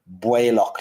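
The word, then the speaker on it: Baoilleach: Bwaylock, like B-W-A-Y, Bwaylock.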